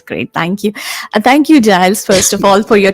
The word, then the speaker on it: Giles: And we have a very honorable guest here, Gils, and I hope I'm pronouncing your name right, Gils. It's Giles, actually, but you can call me anything you like.